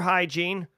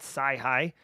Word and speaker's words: hygiene: So just be careful, be mindful, practice good cyber hygiene, which is the right way to say it, not sci-hi.